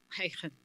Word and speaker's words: Huygens: Yeah, Huygens. It's good, you pronounce it really well.